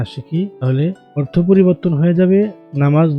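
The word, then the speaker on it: ت: জিহ্বার আগা সামনের উপরে দুই দাঁতের গোড়ার সঙ্গে লাগিয়ে তা। তুমি পড়ো, তা।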